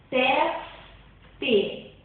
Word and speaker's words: teste: Outro exemplo, teste. As sílabas átonas é te, no caso. E a sílaba tônica é tes.